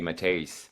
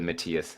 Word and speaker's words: Matthias: mother's Dutch, so in Holland they say Matthijs, but yeah, I just go with Matthias. I think it's the most international pronunciation we can have.